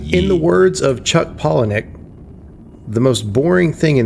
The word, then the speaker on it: Palahniuk: it's Paul Huniak, actually. No, just... It's like Palahniuk.